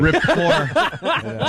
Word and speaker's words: rapport: If you can get Americans to say a silent T regularly, I think that's impressive. Rapport.